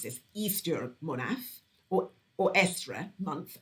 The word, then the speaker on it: Eostre: this, Easter Monaf, or Estre month, after the goddess Estre, spelled Eostre.